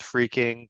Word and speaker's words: phreaking: of personal experience with freaking which is spelled p h re a k i n g um and that really stems from the word phone um that the pH